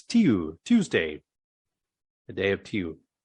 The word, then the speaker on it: Tiu: But in Anglo-Saxon culture, the god of war was called Tiu. T-I-U. Tiu. Tiu. So that the pronunciation just changed to Tiu.